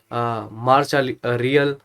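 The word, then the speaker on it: Marcha Real: हैं स्पेनिश में अगर देखा जाए, और जो प्रोनाउंसिएशन है मार्चा रियल, है ना, या और तरीके से आप देख सकते हो, इंग्लिश में बोलते हैं रॉयल मार्च।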